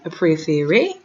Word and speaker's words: préférez: Vous préférez. And remember the EZ as well is A.